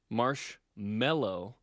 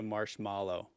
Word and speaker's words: marshmallow: We all say marshmallow, but it's an M-A. It's a mallow. It's a marshmallow. But no one says marshmallow. No one says that.